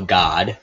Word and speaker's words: Gad: Levi Judah Dan naftali Gad well God depending on how you want to pronounce that Asher issachar Zebulon Joseph